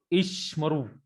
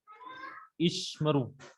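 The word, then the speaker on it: ישמרו: When you will find Shiva back to back in the middle of the word, first is always silent and second is always vocal. First is silent and second is vocal. So the pronunciation is Ishmaru.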